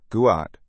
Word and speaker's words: Guat: When the family fled through Egypt, the original name, Guat, pronounced to rhyme with thought, was misspelled during transliteration from Arabic.